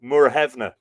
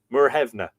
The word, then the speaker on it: Muirthemne: When you look at that phonetically, you would go Muirthemne. Muirthemne is how you say it.